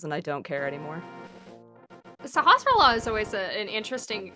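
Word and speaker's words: Sahasrahla: Sahasrara. When I was a kid, I called him Sasarala Halalala because I was just like, that's too many S's and L's, and I don't care anymore. Sahasrara is always an interesting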